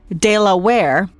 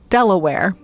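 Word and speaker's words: De La Warr: Some folks pronounce his name Lord Delawir, others Deaware. After a while, you start to hear Delaware.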